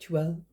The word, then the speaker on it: tulle: I've sewn fine silk and tulle, I think it's pronounced tulle, T-U-L-E, on this machine.